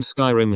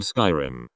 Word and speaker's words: Skyrim: a guy who came in around the time Skyrim came out and asked if we had the new Elder Scrolls game I said oh you mean Skyrim he laughed condescendingly and said no I mean scrim thinking he was just mistaken I was like